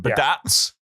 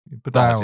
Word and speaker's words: Badats: See, me and you, Captain Badats. Pronounce his name right, Coleman. Thank you very much. I did, didn't I? Yeah, you said Badats. Badats is, it's a hard Badats.